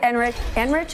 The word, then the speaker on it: Enrich: David Enrich, is that how I pronounce it?